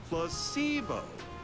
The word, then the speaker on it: placebo: Placebo. Hmm. The stress is on the middle syllable.